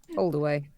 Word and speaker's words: Holdaway: Holdaway. Like hold away from face, as a manager used to describe it.